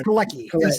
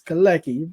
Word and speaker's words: Keleki: It's Keleki, as Jordan told us today. Yeah, he corrected me. I was like, hey, is this the name? He's like, it's Keleki, but he said it again a second time.